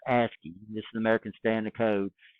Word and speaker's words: ASCII: So ASCII, this is pronounced ASCII.